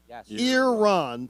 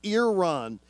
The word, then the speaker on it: Iran: or Iran Iran Iran so it's ear Iran so it's Iran uh today versus youth